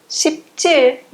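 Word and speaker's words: 십칠: Chip mais tir, vai ser pronunciado chiptir, chiptir, não vai mudar.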